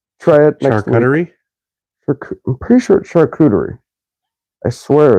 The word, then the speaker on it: charcuterie: like um assortment of different types of food recruiter you saying it right charcuterie sure okay pretty sure now you got me